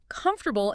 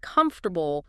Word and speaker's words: comfortable: I remember a student who always stressed the wrong syllable in comfortable instead of comfortable.